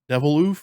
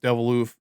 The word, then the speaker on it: Deviloof: but it's like you wouldn't think of Deviloof. Is it? Yeah, Deviloof. Yeah. How you say it? Deviloof.